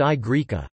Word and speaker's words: Y Graeca: than Etruscan, and were known as Y Greca, Greek Y, pronounced I Greca, Greek I, and zeta from Greek.